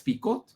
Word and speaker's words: Picot: Sykes se escribe S-Y-K-E-S, y Picot como la sal de uvas Picot, para que no se nos olvide jamás.